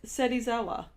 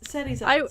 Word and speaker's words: Serizawa: they pretty much all just call him Shirazawa. They all. It's, They all. There's screw his no. name There's over. no sh there. It's Serizawa.